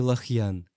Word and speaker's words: Лахьян: Это слово произносится как Лихьян, так и Лахьян.